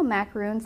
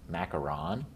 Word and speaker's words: macaron: pick up more pink and you know how macaroons they have like that crust at the bottom